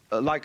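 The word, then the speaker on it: 理: When we speak of order, we usually tend to think of something symmetrical, of something like a library, you know, where all the shelves are rectangular.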